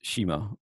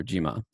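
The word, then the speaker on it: 島: is read phonetically and this is read as shima or jima so you have so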